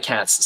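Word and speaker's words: Katz: Leician and Larry saying cats spelled like this for a German surname also famous Jewish Jewish deli. Weird weird how much uh that is going on but sounds like cats sounds like your furry friends the felines.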